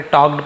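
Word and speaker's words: talked: टॉक्ड for hours, टॉक्ड यहाँ पे L silent है, केवल टॉल कड़ नहीं पढ़ेंगे, टॉक्ड पढ़ेंगे।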